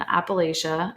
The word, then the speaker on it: Appalachia: I grew up in southern Appalachia, and then they put the like pronunciation key and they say Appalachia, but I'm gonna say Okay. Appalachia because that's Okay. how I know how to say it.